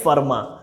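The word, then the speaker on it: Fermat: था खैर ई डी फार्मा जगह स्पेलिंग में फॉर्मेट ऐसा लिखा हुआ है लेकिन इसको बोलते फॉर्मा तो वर्मा को भी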